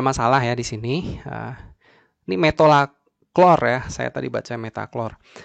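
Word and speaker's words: metolachlor: Metolaklor ya. Saya bacanya tadi metaklor ya.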